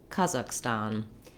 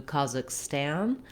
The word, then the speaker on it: Kazakhstan: Some older, I think less modern pronunciations, and maybe also sometimes in British, would do Kazakhstan. I think we're getting better as Americans in pronouncing country names closer to their native way. So now I would say in the US, more people would say Kazakhstan with that same ah vowel in the last syllable as well.